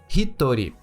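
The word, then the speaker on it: 一人: esse kanji de pessoa, e a pronunciamos como hitori. Hitori.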